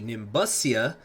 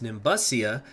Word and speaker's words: Nimbusia: welcome back to the Nimbus SIA that's how it's actually pronounced Nimbus SIA campaign here in hearts